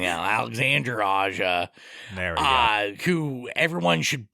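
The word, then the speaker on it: Alexandre Aja: AA uh film and alexand Ander aa oh sorry that was my bad pronunciation Alexander AA there uh who everyone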